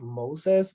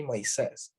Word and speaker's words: Moises: Since they think that it's like Moses, but it's like the Spanish version of Moses. Just add So, an E in the middle. yeah, it's like a Moises, and then the people is like, oh yeah, and they just start saying a lot of pronunciation, but it's like actually Moises.